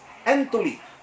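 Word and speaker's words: ἐντολή: Matod pa ni Jesus Christ, whosoever therefore breaks one of the least of these commandments, in Greek, it's no longer pronounced as Pentateuch, but it is pronounced as entoli.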